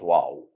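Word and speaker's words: واو: Same letter O sound in the English word one or letter W in the English word when.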